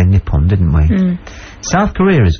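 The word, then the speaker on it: Nippon: suin talta is nion we used to say nipon didn't we South Korea is good it's Han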